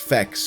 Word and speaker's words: FEX: She was able to clarify that the band is pronounced FEX and not FEX or FX.